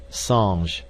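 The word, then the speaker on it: singe: a piece of bark he learned from darno that it was pronounced um and in the same way he was taught to pronounce ape San and tree AR he was a most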